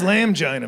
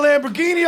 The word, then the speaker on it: Lamborghini: you all need help getting a lamb giant that says lamb Gina man that's how it's spelled oh y'all need to get a Lamborghini off a building and